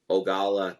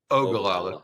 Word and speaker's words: Ogallala: think the mini would struggle to get from ogala to Fort Morgan without excuse me Ogallala could you pronounce weird names correctly it's important that's where